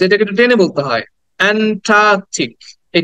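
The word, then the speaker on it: Antarctic: আমরা করি সেটা হচ্ছে এন্ট্রাক্টিক বলি টি এর পরে একটা আর উচ্চারণ করি কিন্তু এখানে কিন্তু টি এর পরে কোন আর সাউন্ড নাই আমরা বলি অ্যান্টার্কটিক মহাদেশ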